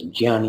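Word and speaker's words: Jnana: Karma Yoga yah yoga or pronounces Gian yoga the on yoga which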